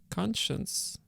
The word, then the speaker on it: conscience: An approach that makes for a history driven by slippery normative concepts such as conscience and intellectual integrity. Is it conscience? How do I pronounce it?